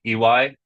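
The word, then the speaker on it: Iwai: of these bottles, um, and it's spelled I W AI, so it gets it's still like most people, even if they're they know how to pronounce this this word, usually comes out in a kind of jumble of vowels, the easiest way to remember is just by saying E and Y next to each other, that's just the guy's name.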